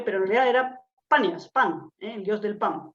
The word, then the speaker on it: Banias: Perdón, se llama ahora Banias porque los árabes no pueden pronunciar la P, le resulta muy difícil pronunciar la P y de ahí es donde queda Banias, ¿vale?